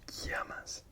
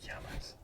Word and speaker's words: llamas: So in Spanish, the double L, it's not pronounced L, it's Y. So ¿cómo te llamas? ¿Cómo te llamas?